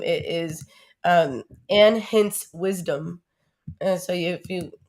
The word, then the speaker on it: Hince: name and hints yeah it's like spelled like prince hints h-i-n-c-e or pronounce like prince but h-i-n-c-e we have five minutes